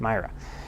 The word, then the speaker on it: Mira: to miss Mira if this name is pronounced Myra Elizabeth Mira who charged